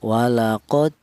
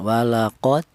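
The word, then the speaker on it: ولقد: Cara bacanya walaqod seperti itu dipantulkan walaqod.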